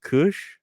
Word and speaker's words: Kush: My guest today is Johnny Kush. Is that right? Is that Yeah, that's right. pronounced? Yeah. Correct. Yes, just like the green leaf, the Kush itself.